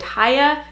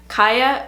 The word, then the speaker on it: Chaya: sure you spell it ch aya I have read that you can pronounce it haya kiya or chia I'm sure there even